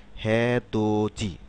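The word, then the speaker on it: 해돋이: করুন হে দত ই হে দোত ই কিন্তু আমরা যখন এটা শব্দে উচ্চারণ করব এই সিলেবাল গুলো যখন শব্দ উচ্চারণ করব তখন এটার উচ্চারণ কি রকম হবে হে দোজি হেদোজি হে দোজি এতজি তাহলে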